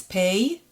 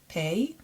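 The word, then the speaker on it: פ: The new letter that we're going to learn today is pei, P sounded letter, pei.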